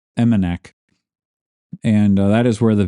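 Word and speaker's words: Emmonak: I should have looked up how to pronounce that properly. My apologies for that, but it's Imanak. And that is where the village office for Chuloonawick resides. The residents of Imanak, they use Chuloonawick still as a fish camp,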